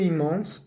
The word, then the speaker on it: immense: Louise a ressenti une immense fierté. Como que Louise sintió un inmenso orgullo. Orgullo en español es masculino, en francés es femenino. La fierté. ¿Listo? Une immense, ese I-M-M lo vamos a pronunciar.